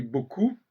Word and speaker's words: beaucoup: Même si il dit beaucoup, bon, beaucoup, il faut insister sur le consonne, le B, et coup, il ne faut surtout pas prononcer le P final, etc., etc.